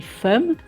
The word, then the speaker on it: femme: Si on le décode, on lit femme, mais en fait, il faut apprendre que ce mot se dit femme.